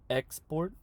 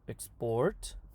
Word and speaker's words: export: And if a verb and a noun have the same spelling, then the noun will have the stress on the front and the verb at the end. Remember, export versus export.